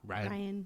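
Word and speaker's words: Ryon: Ryan with an O. Yeah. But you pronounce it like Ryan.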